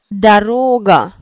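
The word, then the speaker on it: дорога: Daroga. Daroga. Ici, donc aussi 3, mais c'est la troisième. Chimadan. Chimadan. Valise. Oui. Chimadan. Aist, c'est vraiment A qui est accentué. Daroga. O accentué. Chimadan.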